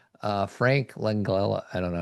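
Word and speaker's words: Langella: Uh, Frank Langala, I don't know how to pronounce his last name. Langela.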